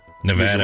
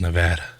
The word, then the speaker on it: Nevada: the nevada gaming commission nevada originally made a member of the foundation's club it's pronounced nevada not nevada oh my god class